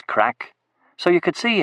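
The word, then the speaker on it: craic: I asked him, using the Gaelic word for fun or happening, which is pronounced the same as crack, so you could see how it could lead to confusion in some circles.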